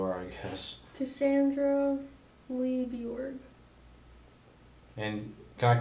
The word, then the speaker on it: Bjorge: It's supposed to be pronounced Bjorge, but it's too hard for getting Americans to say Bjorge.